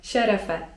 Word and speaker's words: şerefe: Jeżeli chcemy wznieść toast i powiedzieć 'na zdrowie' to w takim przypadku mówimy: şerefe (czyt. szerefe) Z kolei jeżeli ktoś kichnie i chcemy mu życzyć zdrowia to możemy powiedzieć: çok yaşa (czyt.